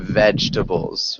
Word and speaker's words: vegetables: So one more time, vegetables, vegetables. Vegetables. Not quite. So work on that on your own maybe. Try to look up pronunciation on YouTube. But Okay. remember 3 syllables, vegetables.